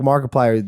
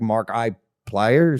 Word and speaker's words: Markiplier: people like like like Markiplier you you got famous with this brand mark because I didn't know how to pronounce it for the longest time I thought it was like Mark I pliers yeah markers Mark Player